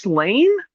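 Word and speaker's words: Sláine: It is, I believe it's pronounced Slain. Slain. It's a 2080. Slain? Yeah. I think it's Slain, but it has like a tilde over the A, by Pat Mills and Simon Bisley.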